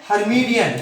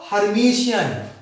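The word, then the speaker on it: Hermitian: इसका एक प्रोनाउंसिएशन है हर्मीडियन, क्या नाम है? करेक्शन यहां पे, कुछ लोग इसको पढ़ते हैं हर्मीडियन और कुछ लोग पढ़ते हैं इसको हर्मीशियन। 2 तरह से पढ़ते हैं,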